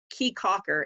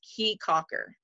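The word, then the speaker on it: Caye Caulker: we were on the island so this is key cocker and it looks like k conquer but it's pronounced key cocker i would have never known there's that creole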